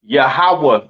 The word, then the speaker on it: Yahawah: it's not Yahweh right it is pronounced yahawah in the Hebrew all right yahawah in